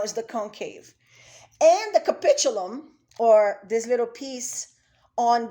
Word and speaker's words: capitulum: moving on the convex capitulum as you can see it's a hard c i agree but as